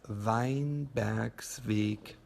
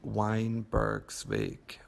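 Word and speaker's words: Weinbergsweg: and the address is vine Beck's week and ah and a little bit more English pronunciation would probably be Weinberg swig which is also fine and the number is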